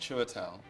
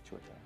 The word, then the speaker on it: Chiwetel Ejiofor: My name is pronounced Chiwetel. Chiwetel.